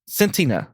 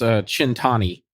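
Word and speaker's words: Cent'anni: Centina. Yeah. Centina. No, it's Chintani.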